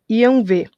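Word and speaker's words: Yahweh: Essa sigla que vocês estão vendo aqui é a tradução hebraica do símbolo que se escreve como eu coloquei aqui, mas se pronuncia Yanvé.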